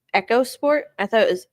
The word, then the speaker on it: EcoSport: Wait, is it actually pronounced Echo Sport? I thought it was Eco Sport.